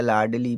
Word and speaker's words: लाडली: है, ए साइलेंट रहेगा, एल से ला, आई से बड़ी की मात्रा हमने लिख दिया लाडली प्यारे बच्चा।